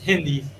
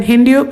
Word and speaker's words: Hindi: Hindu? Hindi.